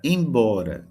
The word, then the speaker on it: embora: Embora a sílaba forte é bó.